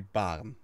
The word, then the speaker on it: Baarn: So the most standard way of pronouncing this would be baren, which is a very, very, very, very slight rolling R.